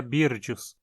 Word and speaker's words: Byrdius: Dessa forma, como o nome é derivado de um nome próprio em inglês, a pronúncia mais adequada seria Byrdius.